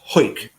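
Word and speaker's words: Hawick: them was 20 miles down the road in whoit whoit which is spelt h8 h a wi ck yeah aw I see okay but it's pronounced Hoyt and when and where did the two where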